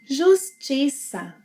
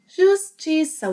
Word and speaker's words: Justiça: And, as you probably know, the cedilha will always have a S sound.